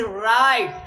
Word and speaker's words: write: जैसे राइट, WRITE, तो W के बाद में R आया, इसलिए इसको हम लोग W को साइलेंट रखना है, क्योंकि हमारी